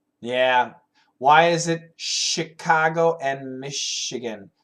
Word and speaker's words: Chicago: it Chicago and Michigan why is it sh I don't know I'm guessing because it's Indian uh American Indian words Chicago and Michigan are American Indian words and the French the French people first came to the area the Midwest so many of the words have a combination uh French spelling and even French pronunciation that's probably why hi from Turkey hi